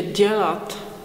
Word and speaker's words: dělat: the same sound, but if you pronounce dítě, dělat, džobanec, as in the sound D in schedule, which is a difficult word for me, it will be okay.